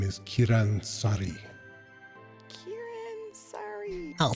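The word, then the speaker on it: Saari: become acquainted with you my name is kiran sorry kieran sorry 'll spell that for you last name kieran sorry pleasure to make your acquaintance you seem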